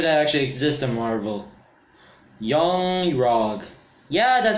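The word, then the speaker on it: Yon-Rogg: Yung-Rog. Yeah, that's how you pronounce his name.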